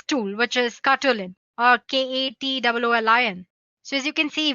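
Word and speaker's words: katoolin: Let me spell it for you guys. It's Katwoolin.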